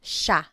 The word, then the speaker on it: siya: And again, just to point out the pronunciation, it looks like it should be pronounced siya, but it's usually pronounced siya, siya. Sila is they.